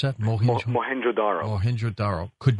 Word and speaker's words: Mohenjo-daro: this town you just mentioned how do you pronounce that mohenjo daro Mohenjo-daro could not have been caused the melting